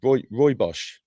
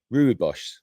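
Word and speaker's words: Rooibos: I keep mispronouncing this one. Roy Bos Ruibos, I keep calling it.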